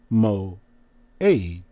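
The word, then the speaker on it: מועד: The word is muad. Transliteration, they have mo-ed. Pronunciation, mo-aid.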